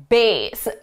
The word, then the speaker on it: bass: Now, I always forget if the musical context is bass or bass. It's bass, bass, bass.